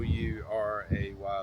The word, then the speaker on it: Ouray: Um Saturday, I went to Uray on Saturday. So um if you look at it, it's not it's spelled O U R A Y, but Uray is the pronunciation of it.